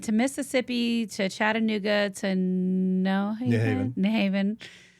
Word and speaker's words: New Haven: And folks from Connecticut know that I know how to pronounce it. It's not New Haven. If you're from Connecticut, it's New Haven. New Haven.